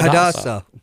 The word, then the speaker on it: Hadassah: Yeah, Hadassah.